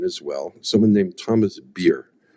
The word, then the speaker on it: Beer: he did non-fiction as well someone named Thomas beer spelled like like the drink uh beer and uh